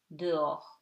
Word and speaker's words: dehors: Okay, and something very easy, H is always silent. Au, haricot, heure, dehors.